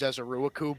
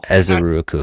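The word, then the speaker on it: Ezeiruaku: I always thought it was Ezeruaku, but I don't know. Ezeruaku. I gotta Google it. No, that sounds pretty good. Ezeruaku.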